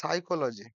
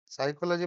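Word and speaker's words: psychology: দিয়ে তৈরি গভর্মেন্ট তারপর সাইকোলজি সাইকোলজি মানে মনোবিজ্ঞান scientific study of the mind and হাউ it's influence behaviour সাইকোলজি বানানটা মনে রাখবে পি দিয়ে শুরু হয় এটা উচ্চারণ হয় না তারপর হচ্ছে রিকল রিক্লোজ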